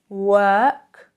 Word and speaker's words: walk: So, more examples and let's look at the difference between work, walk, work, walk, And pay attention, guys, yes, the L is pretty much silent.